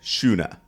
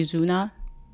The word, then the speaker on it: Xuna: And I don't think English has the X like pronunciation as shu na sha.